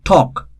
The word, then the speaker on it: talk: not audible it's not we don't pronounce l as such though though letter l is in the word that's why it is